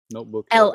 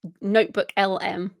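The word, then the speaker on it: NotebookLM: And, although it did occur to me, as we're talking about the notebook LM, am I saying it right? LLM, notebook LLM. LM. It's just notebook LM.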